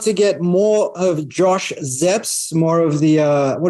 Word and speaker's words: Szeps: do so at Josh zeps that's z-e-p-p-s like Led Zeppelin although his surname is